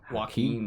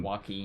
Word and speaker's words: Joaquin: because I can never remember why is it Joaquin Joaquin walking please he's also a really weird guy so